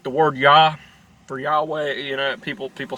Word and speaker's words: Yahweh: Yahweh, you know, people say that his name's Yahweh because his name's Yah. When Hebrew, words change. Words change. So just keep that in mind. So I think Yahweh would be a more accurate pronunciation.